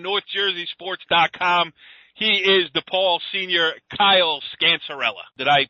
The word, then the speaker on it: Kyle Scancerella: He is DePaul senior Kyle Scancerella. Did I pronounce it right, Kyle?